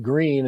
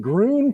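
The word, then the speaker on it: Gruene: is my my green i didn't know it was freaking pronounced green until i was corrected i'm like we're in groon texas there we go the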